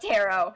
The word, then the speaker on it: tarot: Like I Kayie was in is in it's pronounced tarot. It's pronounced tarot.